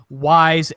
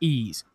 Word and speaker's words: Ys: you were going to pronounce it the way it's spelled it would be like yse 8 you know Ys but it's pronounced ease okay I I was I just like like